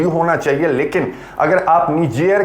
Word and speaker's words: Niger: निजेर जो है वो फ्रेंच प्रोनाउंसिएशन है।